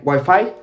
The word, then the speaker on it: Wi-Fi: In Argentina, we pronounce it exactly the same way. Maybe a bit different, like Wi-Fi. And I would say with the long E sound, the last one.